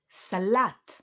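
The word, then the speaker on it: סלט: chocolate instead of ABBA Salat the stress falls on the second syllable instead of salad right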